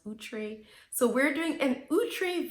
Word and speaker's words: Outre: I used to say outre and then I found out it's pronounced outre.